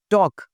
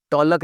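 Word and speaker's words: talk: टॉक, टॉलक नहीं बोलना जी, टॉक और वॉक।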